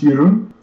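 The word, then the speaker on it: Jeroen: to the call okay jeroan jeroan you're on the air with space jars live yeah it's actually pronounced yurun yur but Yun where are you calling from it's a Dutch name are you calling from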